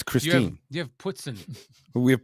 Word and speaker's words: Christine: here we have Chris Ste Lake oh it's Christine you have pson we have puton it's ptin